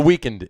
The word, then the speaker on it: The Weeknd: The Weeknd is playing the halftime.